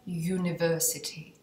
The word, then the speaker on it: University: By the way fyi University se vyslovuje přes j ne přes u ne samohláskou proto je to a University Jo je to podle oni si chtějí přeci oni si chtějí usnadnit výslovnost Ok a University a uniform Ok faj Tak doufám že